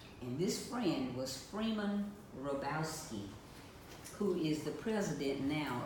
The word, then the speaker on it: Hrabowski: And it's spelled H, it starts with an R, and then H, H-R-A-B-O-W-S-K-I, Hrabowski. The H is silent.